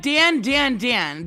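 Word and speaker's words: Dandadan: It's like Dan Dan Dan.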